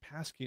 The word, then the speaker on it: Pasi: uh Scott uh says I need to get used to hearing Pasi in this way. That's how my that's how I how my last name is pronounced.